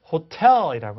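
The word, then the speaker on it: hotel: 그래서 호텔이라고 하셔야 돼요. 아시죠? 실수하지 않도록 이걸 호러 이렇게 하시면 안 됩니다. 강세가 가는 곳에 T는 제 음가를 제대로 발음하게 됩니다.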